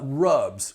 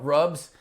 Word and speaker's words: RUBS: moving on so now let's talk about uh rubs resident utility billing systems is one of my favorites uh rubs and you'll see this spelled r u BS